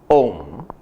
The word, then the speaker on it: Om: This primal revelation of Nada Brahma is the word Om, written and pronounced as a conjunction sandhi of three equally self-dependent sounds of A, U and Here we observe that